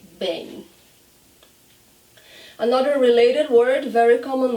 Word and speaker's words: bem: When the word ends in EM, that's what you hear, and that's how we say bem.